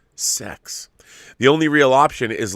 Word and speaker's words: CeX: many the high streets called cex pronounced sex the only real option